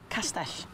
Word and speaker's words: castell: Castle is castell. Castell. Hey, you've just got the hardest sound in Welsh almost right. The double castell. L. Oh, no, that's a ch. It's a double L. You just put your tongue against the back of your teeth there.